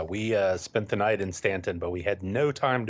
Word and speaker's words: Staunton: a little stop in Stanton, Virginia. I want to say Staunton because it's spelled that way.